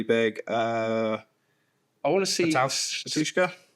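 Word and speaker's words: Batushka: Patushka. Yeah. That's how you pronounce their name.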